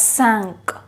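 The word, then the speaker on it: cinq: is pronounced as cat cat cat five is pronounced as sank sank have a look here sanch ecutabia six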